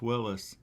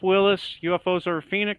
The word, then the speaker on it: Willes: that people have is my last name is spelled w-i-l-l-e-s and people always want to put w-i-l-l-i-s and it's not like bruce willis it's like uh it's yes let's try with an